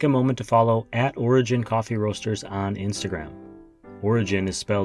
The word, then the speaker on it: Origen: And how did you pronounce that, Origen? Origen, or you, most people right here in the United States say Origen, Origen, yeah.